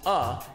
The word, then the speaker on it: a: The A, pronounced uh, written in the counts means your foot will stay up after the plus sign.